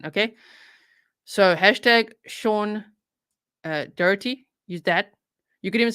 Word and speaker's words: Daugherty: the surname correctly so that is how you spell it d-a-u-g-h-e-r-t-y Sean s e a n okay so hashtag Sean uh dirty is that you could even say hashtag Virginia